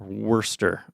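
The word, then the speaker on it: Worcester: know I figured out the beginning part of that before Shire that people get confused about pronounced Worster that's a name of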